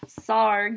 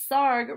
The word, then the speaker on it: Sarg: Stark the real-life him Tony Sarg starring that stark that's Iron Man Sarg it even says here Sarg rhymes with argh alright he lived from